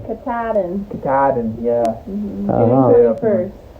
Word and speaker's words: Katahdin: Katahdin. The K. Katahdin.